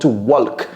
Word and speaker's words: walk: walk j'entends très souvent walk non c'est to walk walk ne prononce c'est pas le l ok ce n pas